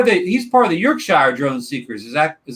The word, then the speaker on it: Yorkshire: yeah yes part of the east part of York Shire drilling secrets is that is that correct that's say that again wrong is it is Chris part of the York Shire drone stickers am I saying that correct of